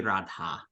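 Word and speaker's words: राधा: Isn't that a long A right there? That it should be a long A right there. It's a long A right there. Yeah, Okay. This is feminine, so it should be Radha.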